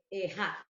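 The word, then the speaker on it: אחד: tienen la misma naturaleza, pronuncia Ejad. Aunque se parezcan, pero son diferentes y significan diferente. La una es Ejad y la otra es Hadid.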